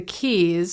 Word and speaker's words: quays: from the temple bar go to the keys although they spell it quays cuz we're Irish and we're weird and get a pint